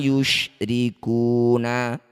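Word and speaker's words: يُشْرِكُونَ: Ketika mad tabi'i bertemu huruf hidup kemudian dihentikan, jadilah bacaan namanya mad arid disukun. Cara bacanya ku panjangkan 6 harokat, huruf terakhir sukunkan.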